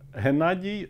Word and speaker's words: Hennadiy: that whole area, and I've heard Gennady before pronounced with a G, but never with an H. G is kind of Russian notation of my name.